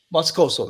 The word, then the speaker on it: Moscoso: Sergeant Washington Moscoso, I think it's pronounced like that. Moscoso, that's right.